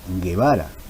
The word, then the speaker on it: Guevara: diptón Por qué Porque la u no ejerce sonido como vocal nosotros pronunciamos Guevara y es como si no estuviera la u nosotros pronunciamos quinua que